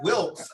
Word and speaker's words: Wilkes: So when people are like, "How do you pronounce Wilkes?" I'm like the guy who shot the president.